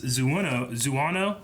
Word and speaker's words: Xiono: interesting to see that Kaz's last name is Zuano, but it's spelled with an X. Yeah. Xiono.